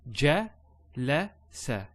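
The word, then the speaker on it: جَلَسَ: So ja, la, sa.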